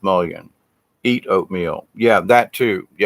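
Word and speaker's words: mullein: my garden right now along with mullin or mullion it's pronounced million eat oatmeal yeah that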